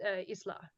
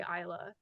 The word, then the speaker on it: Isla: Philippines, it would be pronounced Isla. Yeah. Yeah. But like in America, we say Isla, but it doesn't matter really.